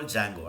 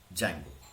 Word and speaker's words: Django: You have to call Django, don't pronounce that D, because in Romanian language D is not pronounced, but they write it. Actual pronunciation is Django.